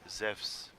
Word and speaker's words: Zeus: So Evpia, that's a Greek thing, that like the EU starting, or the sound spelled by an EU is actually like EV, Ev, there. So that means Zeus would really be pronounced Zeus.